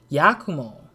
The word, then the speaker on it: Yakumo: it goes into but oh yakumo okay that's how you pronounce it uh and then what